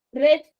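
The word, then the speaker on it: read: ரீட், ரெட், ரெட் அப்படின்னு சொல்லுவோம் இல்லையா? சோ இப்ப நம்ம வந்து ரீட்னு சொல்றோம். இதோட பாஸ்ட் என்னது? இதுக்கு பேரு ரெட் அப்படின்னு நம்ம ப்ரொனவுன்ஸ் பண்ணணும். வேர்ட்ஸோட ஸ்பெல்லிங் சேம், ஆனா ப்ரொனன்சியேஷன் இஸ் டிஃப்ரெண்ட்.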